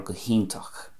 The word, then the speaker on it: hiontach: transition into go hiontach, so I'm pronouncing that the Munster way Iontach a definite oo sound and in Connemara it would be Iontach or go hiontach, and you can hear the e there coming out quite loudly and